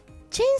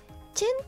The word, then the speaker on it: 橙: りまして、あやめチェンさんです。大体と書いてチェンと読みます。